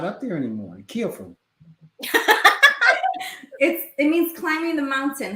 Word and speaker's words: KhuenPhu: KhuenPhu. It means climbing the mountain. How do you say climbing the mountain? Climbing the mountain. No, in Lao. No. KhuenPhu.